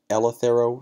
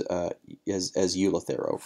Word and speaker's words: Eleuthero: I hear it pronounced as Eleuthero root, but occasionally you'll hear it pronounced as Eleuthero root.